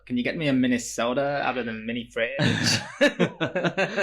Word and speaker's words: Minnesota: how to pronounce because I was pronouncing it sota when it's actually soda. Soda. So it's like a miniature fridge. Take minus the fridge and add a soda in there. Minnesota.